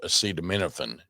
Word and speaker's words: acetaminophen: This is advice being given by by Secretary Kennedy and President Trump to pregnant women about the use of acetaminophen is how it's pronounced.